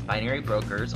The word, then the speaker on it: BinaryBrokerz: n a r y but the name Brokers is spelled b r o k e r z instead of s so it's binary Brokers all one word b i n a r